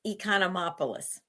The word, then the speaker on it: Economopoulos: e but could you do the the correct pronunciation of it uh yes it's economopoulos oh that sounds so beautiful coming out of